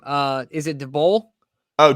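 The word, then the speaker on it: Daboll: you say his last name uh is it the bull oh dabel there we go i knew i was saying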